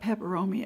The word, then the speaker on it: peperomia: I think overall that pepperoni pepperoni is doing real well oh I'm calling that peperomia it's the Pylea pepper moieties I always mispronounced these okay above here is